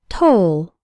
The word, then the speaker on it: toll: net first let's work on the pronunciation the O in toll sounds like in the words no so roll and told say the word after me toll the word toll refers